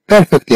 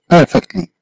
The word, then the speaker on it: perfectly: You are perfectly happy with your new job. You are perfectly. هذيك R بلا ما تتنطقها. ديما R غير تتمسها.